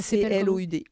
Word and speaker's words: Cloud: Ça C-L-O-U-D. C-L-O-U-D, ok. Cloud, comme en anglais.